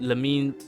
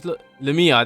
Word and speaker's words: Lamia: I feel like her name's not Lem. It's like I know her name's Lemma. That's it. It's Lemma. Lemma.